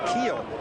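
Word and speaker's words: Kuehl: Back in the fourth, that name is a familiar name and people look at the spelling of that name pronounced Keel.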